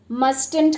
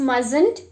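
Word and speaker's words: mustn't: मस्ट plus not gets converted to मजंट, यानी कि जो टी है वो हट जाता है, मस्टेंट करके कोई वर्ड नहीं होता, इट्स मजंट।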